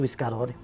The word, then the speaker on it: Piscadori: scritto una canzone su Piscarori. Noi usiamo di solito sa R, Piscarori, invece è scritto Piscadori.